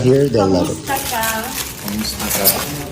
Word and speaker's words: kumusta: Kumusta ka? Sorry. Ano kamusta na? Kumusta ka?